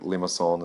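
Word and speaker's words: limaçon: finish that up and I end up with a Limassol that is how I pronounce it not sure how you want to pronounce it I've heard people say a lot of different ways I think Lima Solan is the French pronunciation but that's what that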